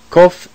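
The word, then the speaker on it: קוף: of the other letters kof is a special emphatic non-aspirate k sound produced in the back of the throat we will pronounce kof like cough with dagesh or like the k in kite fresh is a slightly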